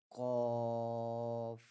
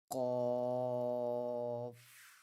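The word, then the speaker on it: ق: When pronouncing the letter Qaf, the back part of the tongue touches the soft palate, which is the soft part at the back of the roof of the mouth. Qaf, Qaf, Qaf.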